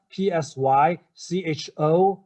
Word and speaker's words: psychopathic: psychopathic how to spout p-s-y c-h-o-p-a-t-h-i-c psychopathic psychopathic so the stress is what on the third path thick psychopathic okay uh is on the third syllable and cycle that part